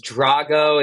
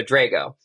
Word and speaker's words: Drago: right you did uh there's two different pronunciations Drago is like Rocky four he's the Russian and I'm at I'm a sicilian guy so Drago so Drago Drago I hear both and it doesn't bother